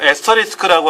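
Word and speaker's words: asterisk: 그러니까 요 에스터리스크라고 하는 것은 이걸 에스터리스크라고 읽어요.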